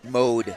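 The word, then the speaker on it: Maude: Quarterback I think is pronounced mode. Mode. So, think about it. It's spelled M A U D E, but it's pronounced like M O D E.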